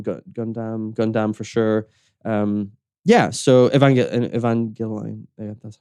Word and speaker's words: Evangelion: So Evangelion, that's how you pronounce it.